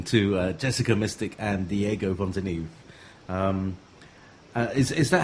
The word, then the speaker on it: Fontanieve: uh something like that in Italian it sounds like font but many people mistake my surname like in in an English way or in a German Way like Fontan but is